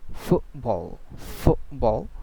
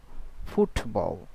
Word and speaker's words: football: called golotal ty okay like football not football. Football. So this kind of uh T sound it's called golal T.